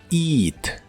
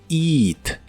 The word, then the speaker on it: eat: eat que significa comer se pronuncia con la i larga eat eat el auxiliar wouldn't junto